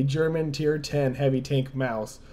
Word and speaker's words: Maus: tier 10 heavy tank Mouse I know some people say Moss but I'm I'm pretty certain the correct pronunciation is mouse not the point if